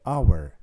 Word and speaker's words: hour: 60 minutes et bien quand je le dis le premier son que j'entends c'est a donc hour et donc on dira an hour honest commence avec un